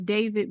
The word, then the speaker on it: D4VD: Was that musician's name is David, but it's spelled Oh, D4VD.